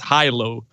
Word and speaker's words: Hilow: it's in my head it's supposed to be pronounced hi-lo because i just set up the word merged